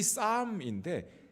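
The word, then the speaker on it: psalm: 하는 것은 시편을 가리키는데요 싸움이라고 영어로 표현하고 있어요 싸움 보쌈 할 때 싸움입니다 쌈 싸먹는다고 할 때 그 쌈 발음이 같아요 근데이 싸움인데 스펠이 바로 p로 시작합니다 시편이란 말이 피로 시작하죠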